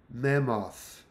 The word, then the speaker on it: mammoth: Mammoth.